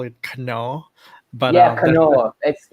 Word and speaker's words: Knorr: So in Thailand we call it Knorr, but Knorr. We say Knorr because the K is silent.